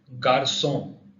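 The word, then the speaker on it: garçon: इसकी साउंड स आती है. For example गारसों, गारसों.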